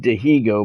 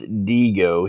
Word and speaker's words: Dihigo: saying his name right it looks like Diego but I think the proper way to say it is diigo he's a pitcher infield